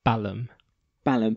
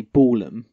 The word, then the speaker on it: Balham: Balam isn't it does sound the best when you say out loud Balam Balam but it's a question on whether in America they might say Balham which could be construed ya the way it's pronounced so that's good a